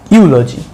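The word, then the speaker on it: eulogy: ইউলজি, ইউলজি, ইউলজি। ইউলজি মানে হচ্ছে স্তুতি। ইউ উচ্চারণ হবে না, এখানে কি উচ্চারণ হবে, ইউ ইউ উচ্চারণ হচ্ছে।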